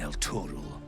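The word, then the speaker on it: Elturel: I had quite a life in El Turel. Okay, that's how you pronounce Chewing that.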